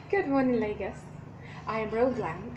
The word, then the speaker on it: Rouglam: I am Rouglam. It's spelled R-O-U-G-L-A-M. Row plus glam. It's got from my name. So I brought out the row from it. And glam from glamorous.